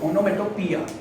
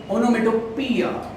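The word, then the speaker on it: onomatopoeia: जिसका नाम है ओनोमोटो ओनोमेटोपिया स्पेलिंग अजीब ही है। मगर ओनोमेटोपिया ओनोमेटोपिया मीनंस सर मेरे को मेरा जो पिया है नचाड़िया है तो ओनोपिया नहीं ओनोमेटोपिया उसका सॉन्ग कैसे याद करना देखना आपको पीछे से मस्त आवाज आएगा।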